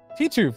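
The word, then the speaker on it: Titeuf: That character, Titouf. Titouf, that's how you say it.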